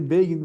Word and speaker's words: Begin: So, they say Begin rhymes like Fagin.